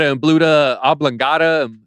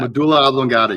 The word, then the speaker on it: medulla oblongata: our next guest don't you tell them what a Buddha oblongata I don't even know how to say it